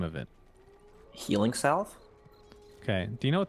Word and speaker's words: Healing Salve: Healing Salve? Okay. Do you know what the actual pronunciation is? Healing Slave?